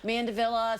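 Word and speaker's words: mandevilla: do you say that mandavilla mandavilla some people call it mandavilla depends on if you like to combine those double L's and say it sort of in a Spanish way I guess oh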